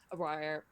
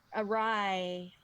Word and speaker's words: awry: can happen things that go awry or what mmm wire mmm dang it I can't pronounce that word but you know what I mean all right Arai thank you sometimes they can come